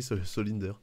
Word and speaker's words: Solinder: Ça se prononce, oui c'est ça se prononce comme ça s'écrit, Solinder.